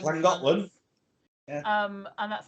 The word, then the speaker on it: Llangollen: It's pronounced clan. Yeah. So I went to I can't say it. Llangollen. Llangollen.